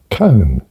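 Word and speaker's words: koan: and so i s sort out the pronunciation con I thought that doesn't sound very I thought it'd be a bit more sophisticated than that con con con right okay right so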